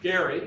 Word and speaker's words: Gerry: name is gary mandering he is named after eldridge gary and that's how he pronounced his name rg who at the